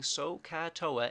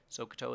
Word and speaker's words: SohCahToa: So this thing, SohCahToa, and you need to pronounce it properly. So is OH. Ka is AH. You can hear that in the ka. And toa, we pronounce the A, so you remember that it's over A.